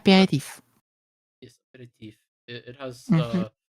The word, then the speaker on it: aperitif: yes, it's just an aperitif. If I pronounce it correctly. Aperitif.